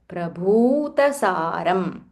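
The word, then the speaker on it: प्रभूतसारम्: So dvichatushkamidam prabhu, prabhutasaram. The bha mahaprana and it is dirgha. So you have to say bhu.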